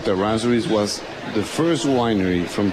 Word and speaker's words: Errazuriz: It's two R's. And in Spanish we say Errazuriz. Oh, we You can't have to say that. Yes. Errazuriz.